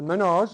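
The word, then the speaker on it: Mesnard: So the Minnaars, it was spelt M-E-S-N-A-R-D, pronounced Minnaar, and then the spelling changed at the Cape.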